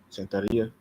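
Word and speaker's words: Santería: Sanththeria as well. Santharia. That's how you say it.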